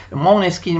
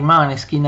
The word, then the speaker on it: Måneskin: Maneskin oppure i Måneskin, perché essendo un nome danese forse bisognerebbe pronunciare Måneskin, ma noi continuiamo a pronunciare, continuiamo a chiamarli Maneskin all'italiana e naturalmente ci sono state molte polemiche, soprattutto tra i puristi del rock.